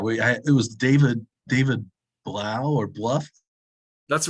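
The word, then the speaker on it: Blough: Yeah, it was David Blau or Bluff. That's right, Blau. Was he a Blau or a Bluff? I don't remember the pronunciation. Blau, David Blau, Desmond Ritter.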